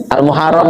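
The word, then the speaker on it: al-Muharram: berhaji di bulan Zulhijah kalau Muharram artinya apa aslinya almuharram aslinya itu almuharram bacanya almuharram itu artinya bulan itu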